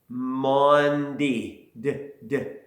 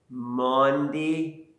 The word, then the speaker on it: Maundy: Let's try to say that word. It's kind of a different pronunciation. Maundy. Maundy Thursday.